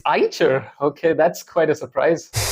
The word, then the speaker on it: Eicher: c he e r it is pronounced as IA really I thought it was iter it's ier okay that's quite a